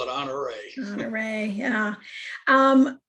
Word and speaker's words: Honoré: It's French. It has its emphasis is on the last E, honoré. Okay. That's why it's got that little thing over the E.